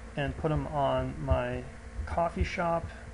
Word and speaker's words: Ko-fi: put them on my coffee shop to me that looks like kofi i don't know they could pronounce it coffee but if you go